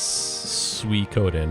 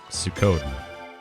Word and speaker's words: Suikoden: a small child and no one was there to guide me and how to correctly pronounce the game i picked it up and i said sukkot and then it stuck and i kept saying it forever even though i know it's wrong uh yeah well it's